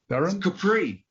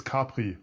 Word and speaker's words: Capri: uh so well sir capri this capri off the amalfi coast right near sorrento capri in italy good so or for the europeans it's capri so how the germans would pronounce it however i'm afraid now